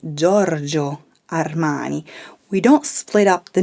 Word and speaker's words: Giorgio Armani: mispronounced is giorgio armani what do i usually hear is giorgio armani be careful you're putting too much emphasis on his name in italian we simply say giorgio armani we don't split up